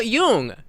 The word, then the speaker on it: Jung: umla is pronounced Carl Jung, spelled K A R L Y O O N G with the J sounding like a Y and the U having a soft ooh sound as in book or the German word for young.